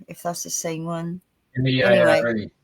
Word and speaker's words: Meare: Meare. It's spelled Mere. Meare.